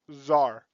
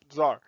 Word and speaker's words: czar: above is called a czar see ZAR it's pronounced czar like little Caesar but not Tsar the word actually comes